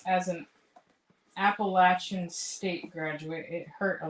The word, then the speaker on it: Appalachian: played against Brody yeah I said Appalachian State is Appalachia Appalachian like the Himalayas Himalayas hey you should be happy